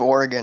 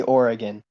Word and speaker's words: Oregon: Like, It's just literally like factually incorrect pronunciation. Like it's literally Oregon. You can ask any native person from Oregon. It's Oregon. It's not Oregon.